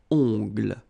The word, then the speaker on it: ongles: Okay, O-N, remember, nasal, ongle. Un coupe-ongles. Un vernis à ongles. Final S here not pronounced. Same thing here. Vernis à ongles.